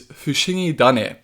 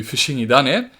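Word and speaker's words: Fushigidane: Alright, so Bulbasaur's name in Japanese is Fushingi Dane. You're combining Fushingi, which means strange, with Tane, meaning seed. Now the reason Tane changes to Dane is something called rendaku, which is this thing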